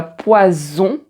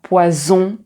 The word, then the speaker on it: poison: bon donc tu as poison et poisson En fait, quand tu as un S intervocalique, donc un S qui est entre deux voyelles, on le prononce comme un Z. Donc ici, tu as poison, rose, ruse.